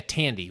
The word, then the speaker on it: Tandy: So the original one, you got Morgan Freeman, and you got Jessica Tandy, which rhymes with candy.